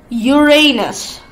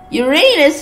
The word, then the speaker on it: Uranus: teacher don't laugh at this this is serious Uranus I hate this planet's name I actually feel